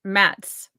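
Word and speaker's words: Mads: chest what's his name it's it's mats no because you don't pronounce the d and you just kind of brush through it and make a sound Mass meds I don't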